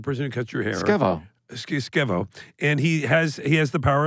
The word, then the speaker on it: Skevo: Keep, yeah, I would remember Skevo. What are you saying? Spell that's it.